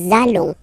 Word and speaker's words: allons: it does mean that you will have to pronounce this z sound, okay, listen to me, nous allons, okay, nous allons, that's it.